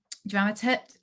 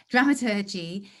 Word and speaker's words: dramaturgy: i should say something about dramaturgy dramaturt but i don't say it like that dramaturgy is a number of